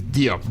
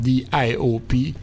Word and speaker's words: Diop: The last name is Diop, D-I-O-P, Diop.